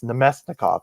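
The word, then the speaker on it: Namestnikov: And then one day I read it and I was like, "Wow, that's definitely not how you pronounce that." Uh, it's Nomestnikov.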